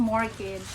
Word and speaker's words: mortgage: coning dito sa us We pronounce that as mortgage silent te Aray ko Ang sakit